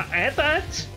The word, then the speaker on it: AT-AT: Aqui não é AT-ST, não um AT-AT, mas tudo bem. Aparentemente, na verdade, se pronuncia AT-AT, o que simplesmente soa completamente idiota, mas tanto faz.